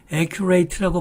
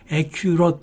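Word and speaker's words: accurate: 다음에 그 두 번째도 aqi 트라고 밟은 마시기 쉬운데 액 큐롯 이미 다 그 다음에 칸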